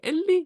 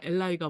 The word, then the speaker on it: 앨라이: 이렇게 물어보면 이제 그게를 딱 잡고 엘라이가 뭐냐면 이거는 엘리라고 읽는 게 아니라 엘라이라고 읽을 건데 이 발음이 약간 이렇게 영어식 원어 발음이 딱 엘라이가 되는 건 아니잖아요. 근데 한국에서 엘라이로 정착했거든요.